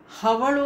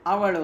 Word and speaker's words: ಅವಳು: ಈಗ ನಮ್ಮಲ್ಲೂ ಕೂಡ ಕನ್ನಡದಲ್ಲಿ ಹಕಾರ ಅಕಾರ ಹವಳು ಅಂತ ಹೇಳಲ್ಲ ಅವಳು ಅಂತ ಹೇಳಬೇಕು ಹಾಗೆ ಹಡಗು ಅಂತ ಹೇಳಬೇಕು